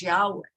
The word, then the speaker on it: Yahweh: times it's pronounced as Yahweh. So the first letter is the Aleph, Yah, and then And actually, the name of God is really breath. Yah, an in breath. Yah, and then an out breath.